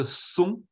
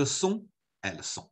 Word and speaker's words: sont: Vous êtes, ils sont, elles sont.